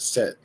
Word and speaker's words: Set: It would have been just set. When they saw that, that was how they would have pronounced it. Set.